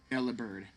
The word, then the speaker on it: Delibird: So is it meant to be pronounced Delibird? I assume so. Delibird. You still bird as one syllable, not lib-erd. But like, the name is definitely based on deliver.